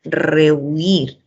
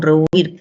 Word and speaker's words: rehuir: ¿Qué pasa con rehuir? ¿Cuántas sílabas tiene para empezar? Entonces decimos, ahí tienen que tener en cuenta que la palabra tiene 2 sílabas, ¿no? Y que el acento recae en la última sílaba.